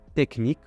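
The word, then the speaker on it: technique: буде читатися як ш текнік буде читатися як к ж воно таке ж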